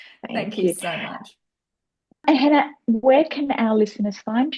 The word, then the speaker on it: Jana: The key thing to note is that even though we have said my name is Hannah, it's spelled Jana.